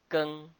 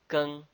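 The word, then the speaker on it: 庚: The iron is pronounced as Geng. Geng.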